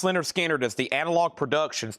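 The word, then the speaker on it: Lynyrd Skynyrd: Pronounced Leonard Skannard is the Analog Productions 2 LP 45 RPM $69.99.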